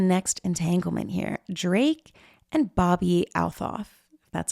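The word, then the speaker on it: Bobbi Althoff: Drake and Bobby Althof. That's how you pronounce it.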